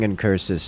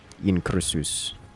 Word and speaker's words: Incursus: Like, obviously I'm saying Incursus as a... in the American accents, as a more European, or I guess like Greek, Latin accents, it would be something more like Incursus.